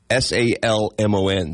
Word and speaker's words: salmon: oh yeah they corrected me alond like you pronounced the l oh God how do you say s a l m o n the fish salmon okay I thought maybe it